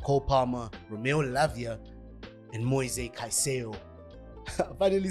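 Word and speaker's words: Caicedo: Midfield three of Co Palmer Romeo Lavia and mo kaiso finally saying it correctly because of that video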